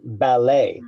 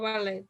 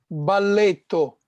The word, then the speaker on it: ballet: No ballet. no T. Ballet. Mhm. So think of ballet in Spanish, The ballet. letter T down so. No? Oh yeah. How is it in Ballet. Italian, Fabricio? balletto. Balletto, you hear the T.